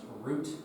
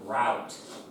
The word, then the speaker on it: route: the same um but it can also be pronounced root and route so uh for example